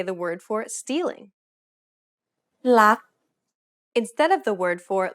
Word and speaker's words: รัก: to say this, however, they would tend to say something like ruck. It's a natural habit to release the final consonant sound. In order to pronounce this word properly, however, you want to stop just as the back of the tongue contacts the roof of the mouth. Never release the air of final consonants in Thai words.